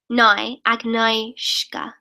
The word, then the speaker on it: Agnieszka: Okay, Agnieszka is pronounced Agnieszka.